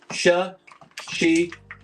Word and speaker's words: Shashibo: Shashibo is 3 syllables. Sh-shi-bo.